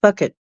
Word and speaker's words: fvkit: KIT, FVKIT, and it's pronounced bucket.